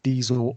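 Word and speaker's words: Disl: And then if you want some really hard-hitting conscious hip-hop, there's a dude called Diesel Automatic, and that's spelled D-I-S-L Automatic.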